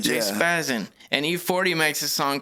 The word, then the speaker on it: J-Spazzin: Like it's catchy though to be like, 2 syllables, J-Spazzin.